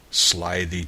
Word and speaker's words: slithy: me: how to pronounce slithy toves. The I in slithy is long, as in writhe, and toves is pronounced so as to rhyme with groves.